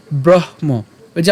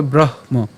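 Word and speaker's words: ব্রহ্ম: হচ্ছে ওপি ওপি এরপর ব্রহমযে আমরা কিছুক্ষণ আগে ভেঙ্গে দেখিয়েছি এটাকে আমরা ভাঙলে কি পাই হ এবং ম পাইলে উচ্চারণটা কেমন হবে ব্রহম ঠিক আছে ব্রহ এবং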